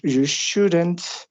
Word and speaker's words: shouldn't: ejemplo, in London, you shouldn't. La pronunciación ahí, en este caso, vamos a colocar como si hubiera una E invisible entre la D y la N, y ahí ponemos una E, shouldn't.